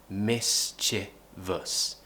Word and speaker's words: mischievous: and we have e-myth that's what we want mischievous a mischievous we also have a lovely schwa